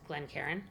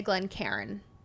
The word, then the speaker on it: Glencairn: Yes, Glencairn is right. Some people say Glencairn. Cairn. Glencairn. Glencairn. Yeah. It's probably if you were Scottish.